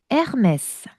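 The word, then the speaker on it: Hermès: 프랑스는 H는 묵음입니다. 어, H는 그냥 안 보인다라고 생각하셔야 돼요. 아예 발음이 없어. 아예. 그래서 유명한 거 있잖아요. 그 유명한 브랜드 에르메스를. 에르메스는 에이트를 시작하는 거죠.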